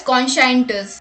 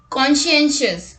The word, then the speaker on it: conscientious: Many people pronounce this word as conscientious, but the correct pronunciation is conscientious, meaning used about people careful to do something